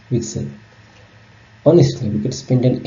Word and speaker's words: WGSL: sharing language which we'll call wgsl pronounced Excel honestly we could spend